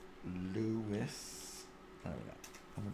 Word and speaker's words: Lewis: Not Louis. Lewis. Lewis. There we go. And we're done. No, not Capaldi. Why is Capaldi coming up? Search. Oh, you're winding me up. There we go. Lewis, search.